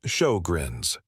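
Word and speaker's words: Sjögren's: The name is pronounced as show-grins.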